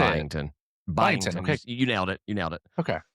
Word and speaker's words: Byington: Byington.